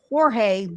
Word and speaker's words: Jorge: Well, in Spanish it's Jorge, but he went by George, and his Jorge mom is George is in English. So of course, and his mom says Jorge.